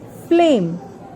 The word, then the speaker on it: flame: At number 4, we have flame. Fleur, A, M. Here again, A is taking its name and E is silent.